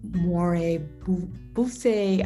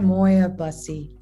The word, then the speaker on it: Moir-Bussy: and beautiful loving guests today we have moire buffet i always say your name wrong can you say it real quick for me and moyabassi isn't that bad moya bussy it's a beautiful ring but i want to